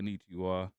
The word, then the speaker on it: Konnichiwa: I like that Kanuchia. How you say it? Yeah. I like Konnichiwa.